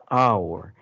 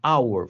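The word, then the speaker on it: hour: é House e house no caso de hora é our você não pronunciou h não é Raul é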